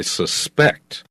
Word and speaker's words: suspect: Be careful of this word because as a verb, we put the accent on the second syllable. I suspect that he did it. So he is my suspect in this case.